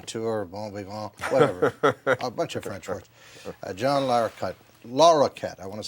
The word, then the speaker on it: Larroquette: mispronounce a lot of well the Q gives a problems it becomes Laura jetty Lara cutie LaRocca twitch I like